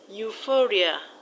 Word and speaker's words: euphoria: Euphoria, the stress is on fo. Now let's look at words that end in ic.